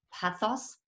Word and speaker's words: Pazos: Und dann, wie immer, auch wunderbarerweise im Finanztalk-Team mit dabei, Luis Pazos von Pazos. Es wird natürlich Spanisch ausgesprochen, Entschuldigung, von Nur Bares ist